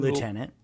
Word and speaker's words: lieutenant: It's a French word. Lieutenant. That's how you say it.